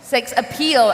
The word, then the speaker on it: sex appeal: Sex appeal, appeal, the Мое sex прекрасное, appeal, yeah. да, мое прекрасное произношение.